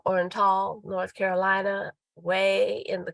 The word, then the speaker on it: Oriental: It's spelled Oriental, but I was told it's pronounced Orenal, North Carolina.